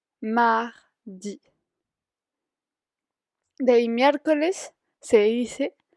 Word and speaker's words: mardi: De ahí, mardi, mardi.